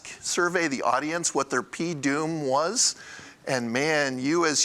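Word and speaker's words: P(doom): That's how you pronounce that, P-Doom.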